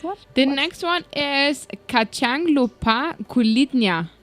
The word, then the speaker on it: kacang lupa kulitnya: The next one is kacang lupa kulitnya. Do I pronounce that correctly? Correct. Kulitnya.